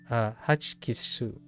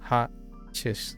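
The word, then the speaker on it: ホッチキス: It's Hachkisu. Hachkisu. Hachikisu. Wait, I'm missing one. Hachikisu. Hachikisu. No, I'm missing a syllable. Yeah, that's the problem. I'm missing a syllable. Oh, I'm missing the pause.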